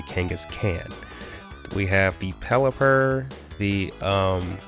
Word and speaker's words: Kangaskhan: Kangaskhan, Mega Venusaur, and I know it's pronounced Kangaskhan, but on this channel we say Kangaskhan.